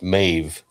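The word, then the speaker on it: Medb: So, it's me DB, but it's pronounced Mave.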